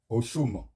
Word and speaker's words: Oxum: Chers abonnés, nous allons voir ce que Yemanja a en commun avec Oshum. Oshum qui s'écrit O-I-U-M.